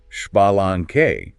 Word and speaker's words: Xbalanque: Haku is hunapu and ex Balan is shalang right you got it